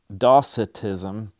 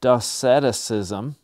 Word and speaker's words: docetism: was a little embarrassed i was trying to say dossitism and i said desceticism and i incorrectly added this little extra extra syllable right there doceticism and actually when you do that it changes the it changes where the accent goes dot ceticism instead of da citizen and i said well